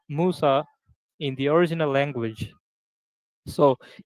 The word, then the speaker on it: Musa: So the name of the prophet Moses in Arabic or in Quran is Musa, Yeah, we know.